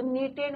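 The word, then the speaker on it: knitted: है बच्चों, बुनना, तो नीटेड मीन्स के साइलेंट रहता है, नीटेड कार्डिगन ग्रीन कलर का था, और कलर कैसा था बच्चों, इट was green in colour, right.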